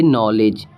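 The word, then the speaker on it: knowledge: इसे हम इसे हम पढ़ेंगे नॉलेज।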